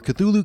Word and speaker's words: Cthulhu: typing in the comments about my pronunciation of Cthulhu, probably saying that I'm not saying it correctly. But honestly, even Lovecraft couldn't. Admitting that humans couldn't truly say it because it's just too alien. Anyway, for sanity's sake, I'm going to pronounce it the way that most people on the planet Earth say, Cthulhu.